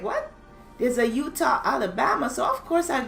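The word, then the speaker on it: Eutaw: um we're going to utah alabama i'm like what there's a utah alabama so of course i googled it and there is a utah alibaba it's spelled e-u-t-a-w and it's about a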